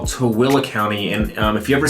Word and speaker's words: Tooele: Yeah, so we got another county called Tooele County, and if you've ever seen it spelled, it looks like it's Tooele, but it's pronounced Tooele.